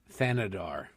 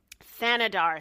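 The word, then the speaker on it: Thanedar: Shri Than than I believe that I pronounced his name correctly. Thanadar he railed against President Say that again please. Thanadar Thanadar thank you.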